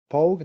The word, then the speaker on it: Pogue: So we've been focusing your projects with Sensei Pogue. That's how you pronounce.